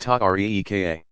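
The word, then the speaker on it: tariqa: came to be called Terra cos pronounced tuck ree ka analogous in some ways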